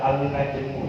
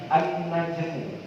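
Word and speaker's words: النَّجْمُ: baidun Ja cara bacanya Jangan dibaca Al jangan dibaca alnajmu ya tapi annajmu ini namanya alif lam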